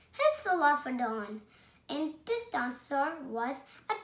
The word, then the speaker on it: Hypsilophodon: I'm going to tell you how to pronounce it. Hypsilophodon. Hypsilophodon.